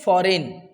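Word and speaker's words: foreign: यहां पर रिजाइन okay फॉरेन एफ ओ आर ई आई जी एन फॉरेन यहां पर भी हमने जी को साइलेंट कर दिया ओके द वर्ड इज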